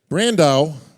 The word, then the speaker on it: Brandão: Brandao. Come on up here, buddy. Brazil's finest. I do want to make one observation here, or observation, as it would be. Brandao rhymes with Sandow.